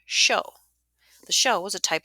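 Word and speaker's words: shō: was a wind instrument the chinese called a shang the japanese pronounced the name show the show was a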